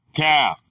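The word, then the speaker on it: כַּף: The word is calf, pronounced calf, from 3721, Hebrew.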